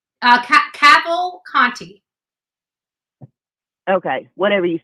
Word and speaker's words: Cavalcante: Cavalcante. Cavalcante. Okay, whatever you said. Like gavel, caval, and then like Conti, like Picante, Conti. Yeah.